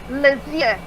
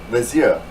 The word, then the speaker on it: Lesyeux: How do you pronounce that last name that you're going by? Lesyeux. Lesyeux.